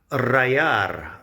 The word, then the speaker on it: rallar: The double L in the middle of rallar is pronounced like a Y sound in English, or if you're Argentinian or something, it would be more like rallar.